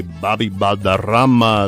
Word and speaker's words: Balderrama: Bobby Balderrama.